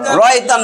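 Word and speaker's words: رَأَيْتَ: আইতা আইতা আতা আতা রতা কইলে হবে না আই আই আইতা র আইতা ওয়া এবং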